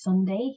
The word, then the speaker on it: Sondae: His name is Sunday. His artist name is Sunday. Okay. It's spelled like Sondae.